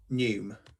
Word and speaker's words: neume: Neume. Neume. Okay. A neume note it's the or same group of notes pronunciation to be as sung pneumatic.